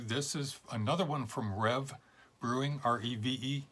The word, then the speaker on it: Reve: This is another one from Reve Brewing, R-E-V-E, I believe it's pronounced Rev, in Atlantic Beach, Florida, up in the Jacksonville area.